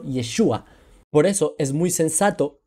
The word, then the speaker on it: Yeshua: es para resumirles pero el nombre común para el siglo I no era y es Joshua sino yeshua por eso es muy